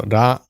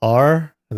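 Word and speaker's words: ら: So Ra is a bunny. It's a very weird looking bunny. Ra la. Pronounced like a combination of ra and la.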